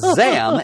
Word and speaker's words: Zam: And when he said Zam, X-A-M, which sounds a lot like the second syllable of Shazam, he could then bring himself back together again.